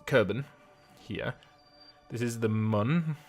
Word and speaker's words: Mun: here this is the Mun let's pronounce moon I have always said Mun and this is minimus